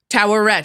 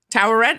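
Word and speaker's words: Taweret: attributes pendulous female human oh that's how you pronounce it toet toet Tower Red okay I S I saying it right yeah Tower Red all right so Tower Red I was just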